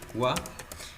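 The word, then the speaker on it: は: va a decir entonces la partícula agua cuando cumple la función de partículas como tal se pronuncia agua no todas las casas se pronuncia agua sólo las iguala ja disculpen las que cumplen función de partícula se le pronuncia ua sensei me parece un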